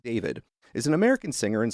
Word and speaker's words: D4vd: And according to Wikipedia, David Anthony Burke, known professionally as D4 DVD DV D VD, sorry, D4 VD, pronounced David, is an American singer and songwriter.